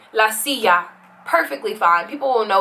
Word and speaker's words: silla: don't mind the j you could just pronounce the double l like a y la silla perfectly fine people will